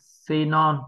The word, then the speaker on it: xenon: Phụ âm X đầu tiên biến đổi thành phụ âm Z và ở đây chúng ta đọc là Z. Âm này là âm được nhấn trọng âm. Đây là âm O, nhưng vì đây là âm không nhấn trọng âm mình đọc thêm dấu huyền là O.